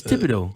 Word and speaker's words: Thibodeau: Is that how you pronounce the first part of her last name? Yeah, it's Thibodeau. Thibodeau. Thibodeau. Like Tom Thibodeau.